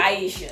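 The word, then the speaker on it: Ayesha: Aisha. Aisha Curry. She's in a better position than most. She's in a way better position. Even some women who otherwise sympathize with her are like, "Yeah, but Aisha, you are the wife of Stephen Curry.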